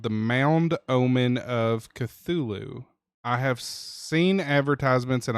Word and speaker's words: Cthulhu: Y Hey, uh Taco, check the Taco, check the backend chat and uh how do you pronounce that? Cthulhu. Cthulhu.